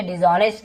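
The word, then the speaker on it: dishonest: Generally यानी आमतौर पर, सामान्य तौर पर, डिसऑनेस्ट, डिसऑनेस्ट का मतलब होता है, हम इसे डिसऑनेस्ट कहेंगे, एस साइलेंट होता है, ऑनेस्ट नहीं पढ़ेंगे, ऑनेस्ट, ठीक है।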